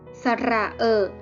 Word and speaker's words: สระเออะ: ต้อง สวย งาม สะเออะ อ่าน ว่า เออ สะเออะ เป็น สระ เสียง สั้น เวลา การ ก็ ทำ